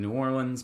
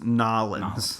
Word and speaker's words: New Orleans: Because I know, like 2004, when I was in New Orleans, I went to one in New Orleans, but that's before. You're pronouncing it wrong. It's Nolans.